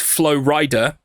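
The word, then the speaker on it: Flo Rida: going to come up it's pronounced Flow Rider and he's a rapper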